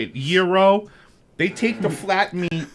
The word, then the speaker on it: gyro: a real gyro or however you say it, gyro. They take the flat meat. Like Is that how you say it? Hero.